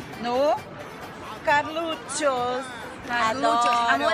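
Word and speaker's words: Carluccio's: Carluccios.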